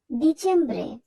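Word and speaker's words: dicembre: মত উচ্চারণ করবো অতব্রে ডিচেমব্রে এখানে সবার প্রথমে আছে ডি আর ডি এর উচ্চারণ ইতালিয়ান ভাষায় দ এর মত হয় কাজেই আমরা এখানে ড উচ্চারণ করবো না আমরা উচ্চারণ করব দ্যাব্রে এখন আমরা জানবো কিভাবে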